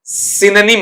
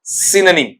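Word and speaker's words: synonym: वहां पर आपका अपने पास में साइनोनिम नहीं होता है। सिनोनिम नहीं होता है। सिनोनिम होता है। क्या पढ़ेंगे बेटा आपका वहां पर? सिनोनिम।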